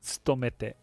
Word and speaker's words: 勤めて: the to like that, do you normally pronounce it sto? It's not a. This one here is stomete. There's a Stomete. pronounced to, like Okay. not an inflection, but it's fully pronounced.